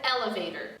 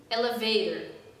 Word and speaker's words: elevator: give you an example the word elevator it's not elevator elevator it's elevator so if i say